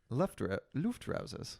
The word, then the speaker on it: Luftrausers: Love Trousers, which is Love Trousers 3. So they just kind of jump forward. They skip too? Yeah. Absolver, Did you pronounce it Love Trousers? Love Trousers, I thought. Luftrausers.